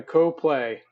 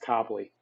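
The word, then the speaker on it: Coplay: locals call it it's copley copley copley copley even though it said it's spelled like co-play it's spell it's pronounced copley it's like a local thing you know like where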